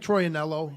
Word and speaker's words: Troyanello: I asked him the correct pronunciation. He said Troyanello, so I guess I stick with that.